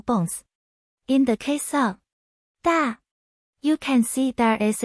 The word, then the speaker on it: 大: today's video, we'll teach you the Chinese character for big, pronunciation. Da.